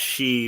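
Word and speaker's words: 四: 4 is pronounced she, which is the same pronunciation as death. 9 is pronounced ku, which has the same pronunciation as agony or torture.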